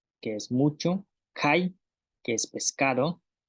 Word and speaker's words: kay: Ayin, lagarto, yaab, mucho, kai, pescado, ak, tortuga, al, pesado, ik, chile.